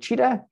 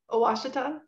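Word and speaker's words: Ouachita: mention what it's called cheetah that's not that's not how you pronounce it uh what is it lindsay washita yeah that's it sorry to look at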